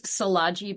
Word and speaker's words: Szilagyi: And my last name's Salaji, but nobody can pronounce it unless you're Hungarian, and that's okay.